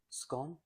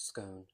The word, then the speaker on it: scone: would like to tell you that it is pronounced scone as in gon not scone as in con lots of it sounds posher to say scone that is incorrect if you would like to